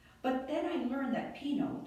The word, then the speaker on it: Pino: then i learned that pinot pronounced p-e-a-n-o was still alive some